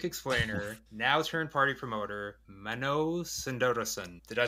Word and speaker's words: Mano Sundaresan: unfortunately, plug music explainer, now turned party promoter, Mano Sundaresan. Did I say that right? I'll guide you through it. It's Mano. It's Mano. Mano. Sundaresan.